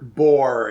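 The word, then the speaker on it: Azetbur: As it Burr? Boar is how you pronounce it. Is it Boar? Boar. Boar? Yeah, there's much more ore in it.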